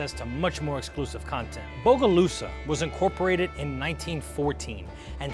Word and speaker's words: Bogalusa: They called it Bogalusa, 2 words, which means dark and smoky water. Bok is the obsolete version of what is mispronounced as boga.